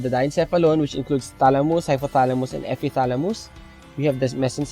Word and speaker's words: hypothalamus: So we have the diencephalon, which includes thalamus, hypothalamus, and epithalamus.